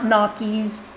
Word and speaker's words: gnocchi: The way that you say it is the way that you would say onion. That nya sound from onion is the same as gnocchi. So it's not gnocchis, it's gnocchi.